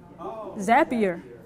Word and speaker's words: Zapier: here is familiar with zapier okay zapier and so if there's not an explicit add-on for something that you want to do things a PR connects with like zapier like happier zapier actually looked it up